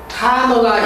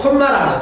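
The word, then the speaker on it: comma: 카마가 있는 경우로 앞에서부터 계속적으로 해석하는 방법이라. 요게 중요하다. 카마. 이 초원에서 콤마라면, 콤마. 콤마라면 알아먹지도 못한 말이니까 절대 어디에서 콤마, 콤마 하지 말고 평소에 습관적으로 정확한 발음을 쓰세요. 카마입니다.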